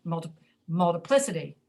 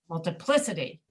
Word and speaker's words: multiplicity: We say multiplicity, multiplicity, multiplicity. So the reason you hear it that way is because English is a language that relies on stress, and the stress is on multiplicity, multiplicity.